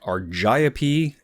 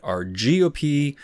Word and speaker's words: Argiope: patterns on the abdomen now I've heard this pronounced a number of different ways like arip and rgop you could argue that any of these are correct I'm going with argia this is basically the GIF GIF debate no one really cares